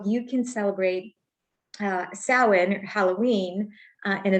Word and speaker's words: Samhain: so if you're not familiar with samhain it is spelled s-a-m-h-a-i-n h-i-a-n yes okay and it's pronounced samhain i